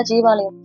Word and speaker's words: ஜீவாலயம்: ஸோ இப்படி இருந்த நான் என்ன பண்றேன்னா, ஜீவாலயங்களுக்கு, அதாவது ஜீவ சமாதி அப்படின்னு சொல்லுவாங்க இல்லையா, சித்தர்களுடைய ஜீவ சமாதிகள், அதை ஜீவாலயம் அப்படிதான் ஆக்சுவலா நம்ம சொல்லணும், அப்படிதான் ப்ரொனவுன்ஸ் பண்ணணும்.